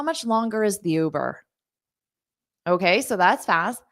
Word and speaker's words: Uber: and you can replace Uber with whatever you want so first of all repeat that ooh Uber so you have that long ooh it's not U it's not the letter U it's o ooh Isaac I'm so glad